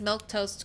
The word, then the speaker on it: Milquetoast: should say this for Raiders my name is milk toast if you were wondering how to say